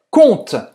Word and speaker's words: conte: E a gente nunca vai falar esse E no final, tá?